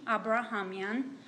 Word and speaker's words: Abrahamyan: and you just state your name and then spell it for me please my name is abrahamian a-b-r-a-h-a-m-y-a-n you guys hearing her okay do